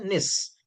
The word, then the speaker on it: gneiss: Actually, gis we write gis, but we should pronounce as a nis, Nisic rock.